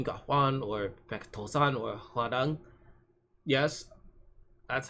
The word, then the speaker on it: Hwarang: Hanjuri or Kim Ga-hwan or Baek To-san or Hwarang. Yes, that's how Hwarang's name is pronounced.